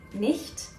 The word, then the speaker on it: nicht: also appears in many other German words like nicht, Licht, Gericht, Gesicht, Milch. Ah! Das kann doch echt nicht sein.